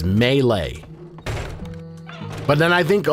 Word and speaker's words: melee: Melee. Yes. It's not me. It's not me. It's melee. It's melee.